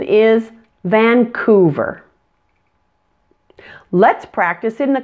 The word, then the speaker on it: Vancouver: spelling video so for the ending of Vancouver don't forget your V pronunciation attach that to the ER sound and you get verb verb so putting it all together now the pronunciation is Vancouver let's practice it in